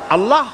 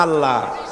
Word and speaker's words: আল্লাহ: নিশ্চয়ই মনে আছে আছে আল্লাহ এই উচ্চারণটা আমাদের অনেকের হয় না কেউ বলে না আল্লাহ আল্লাহ পাকের উচ্চারণটা হচ্ছে আল্লাহ পাকের নামের উচ্চারণ হচ্ছে আল্লাহ মুখটা একটু গোল হয়ে যাবে বলেন আল্লাহ আল্লাহ সুবহানাল্লাহ